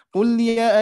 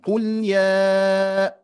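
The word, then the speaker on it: قل يا: bahwa Hurufnya harus dipanjangkan jangan sampai kita membacanya qulya ayyuhal Kafirun harus dipanjangkan qulya nah memanjangkannya berapa harokat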